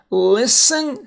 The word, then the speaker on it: listen: Listen, silent T and listen. It's not listen, it's listen. Nestle, like nestle up, get close.